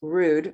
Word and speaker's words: Rudd: to correct you it's rude not I know that nobody wants to say rude because it sounds rude but that is how it's pronounced rude okay I gota well